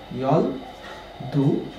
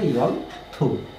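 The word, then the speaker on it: 열두: এটা 12টা হচ্ছে ইয়ল দু, বাট এটা সঠিক উচ্চারণ হচ্ছে ইয়ল থু।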